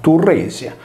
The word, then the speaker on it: Tiresia: Che vi sia una connessione tra Cillene e il sesso lo rileva Apollodoro quando racconta che un giorno sul monte Cillene Tiresia, pronunciato Turresia, vide due serpenti che si accoppiavano e con il bastone del Tirso o del Turro uccise la femmina.